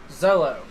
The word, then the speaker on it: Zolo: So, I've been pronouncing Joe's last name wrong the entire time. Zolo.